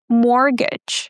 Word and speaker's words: mortgage: Mortgage. Guys, the t is silent and we don't say mortgage, okay? There is no gain there.